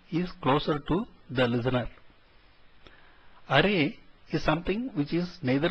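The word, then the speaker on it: あれ: Please note the last letter E is actually pronounced as A, and so these should be pronounced as kore, sore and are and not as kor, sor and are.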